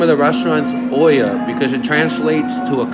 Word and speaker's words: Olla: pronounce it yeah it's Oya so the two L's make a y sound in Spanish o so it's Oya it's not OA no o but it's